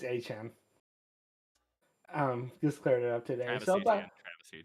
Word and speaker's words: Etienne: He actually told everyone that everyone's been saying his name wrong. Yeah, it's Etienne.